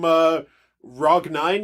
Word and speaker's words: Rog: We have our next voicemail is from Rog9, yes. He says it's pronounced Rog, but he pronounces it differently every time.